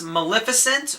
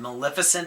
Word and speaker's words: Maleficent: The first one is Maleficent, or I've been calling it Maleficent until I watched the trailer in the theaters, and they said Maleficent.